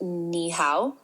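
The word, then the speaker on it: 你好: Close, Dr. Michael. It's actually pronounced ni hao, pronounced like ni hao.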